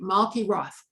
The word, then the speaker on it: Malki Roth: um and the woman who engineered the bombing malkie roth was her name and as they say in america say her name right malki roth 12 years old american girl died in smart